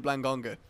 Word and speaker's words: Blangonga: the blangonga oh that why is his name like have an extra syllable than it should yeah it's Blango to blangonga oh okay why not